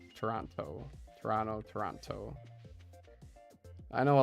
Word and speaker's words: Toronto: People who grew up around Toronto don't pronounce the second T. Toronto. Toronto.